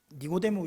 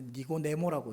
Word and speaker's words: 니고데모: 엄마와 이야기를 할 때 니고데모 이야기를 들었다고 이야기를 해주는 겁니다. 니고데모가 어떤 이야기를 했는지를 이렇게 엄마한테 설명하는데, 이게 니고데모라는 이 발음이 잘 안 돼요, 미나. 그래서 니고네모라고 이렇게 얘기하더라고요.